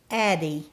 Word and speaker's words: Addie: Phonetically, my name is pronounced Addie and rhymes with the word baddie.